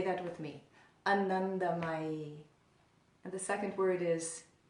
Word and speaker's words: Anandamayi: Anandamayi.